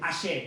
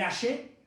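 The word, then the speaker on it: Axé: Sí, pero se escribe con X. Ahí está, Lucy. El Aye, bien, con X y con acento en la E, perfecto.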